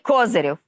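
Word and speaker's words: Козырев: Andrii Kozyryov, accent on the first syllable , and that's when the union was created.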